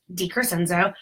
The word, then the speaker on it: DeCrescenzio: If you didn't know, it is pronounced DeCrescenzio.